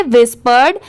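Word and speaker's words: whispered: विस्पर होता है और जहां पर भी ईडी ऐड हो वहां पर ड की साउंड आती ही है तो इसे क्या पढ़ेंगे व्हिस्पर्ड इसीलिए मैं आपको बताती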